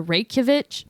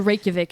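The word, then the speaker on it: Reykjavík: so the next thing i got is the reykjavic i didn't say it right rey could what about a k and a j next to each other be so the next thing we got is the reykjavik index if we're wrong it's okay you could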